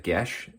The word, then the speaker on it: geis: name change as well so it was uh gesh g-e-i-s and pronounced um inside uh the book